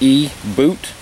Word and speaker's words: eBoot: logo is kind of weird but it's actually pronounced e boot II like ecobee OoT it's a lithium polymer